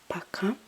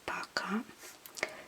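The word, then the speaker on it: пока: the formal way um sorry Paka but it's pronounced more like Paka but it's like pronounced Paka since it's o in a closed sound like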